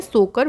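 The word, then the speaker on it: Tso Kar: Next देखिए लद्दाख का wetland है, जिसका नाम है सोकर वेटलैंड, इसमें देखिए टी साइलेंट होता है, इसको बोलते हैं सोकर वेटलैंड एरिया, तो ये भी 2020 में ऐड किया गया, मतलब लास्ट टू लास्ट ईयर।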